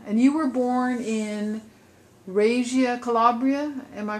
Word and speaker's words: Reggio Calabria: that's funny yeah and you were born in Razia Calabria am I pronouncing it right Susan says yeah and Mary was born literally across the ocean from you you know from Reggio Calabria you could see her Village yeah yeah that